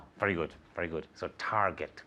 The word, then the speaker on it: Target: good very good so Target with a hard G Target can you say